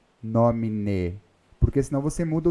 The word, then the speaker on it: nomine: In nomine termina com E. Nós não podemos pronunciar como se fosse um I, in nomine. Porque em português é comum nós fazermos isso, né? Por exemplo, leite. Né? Só que no Paraná, que muita gente fala leite, leite quente, não é? Mas em latim nós não podemos. Se termina com E, tem que ser pronunciado o E, nomine.